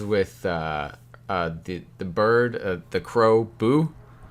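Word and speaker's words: Bhu: The interactions with the bird, the crow, Boo, B-H-U, Boo, I believe is how you pronounce that.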